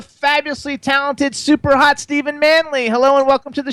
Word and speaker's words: Manley: So, so we pronounce the last name Manley. Right. Right. Manley.